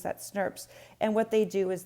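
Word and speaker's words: snRNPs: That's how we pronounce that, SNRPs.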